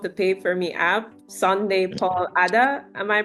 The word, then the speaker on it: Sunday Paul Adah: and CEO of the Pay for Me app, Sunday Paul Adah. Am I pronouncing that Yeah.